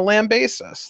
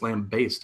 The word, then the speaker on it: lambaste: like it you're gonna land base us like what am I gonna do is it gonna be a bus off bull I was actually corrected recently apparently it's lambaste I think you said